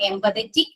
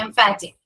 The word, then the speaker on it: emphatic: Okay, it's a emphatic, not empathetic. It's a emphatic pronoun.